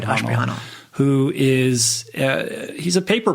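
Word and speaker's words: Ashprihanal: exactly right, Ashprahanal.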